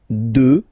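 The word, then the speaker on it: deux: 2. Final x not pronounced, okay?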